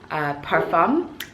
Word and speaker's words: parfum: I didn't know that that's how you pronounce it, but they had a PR session and I joined in. And the lady was saying parfum, and I was like, well, is that the French fancy way of saying it?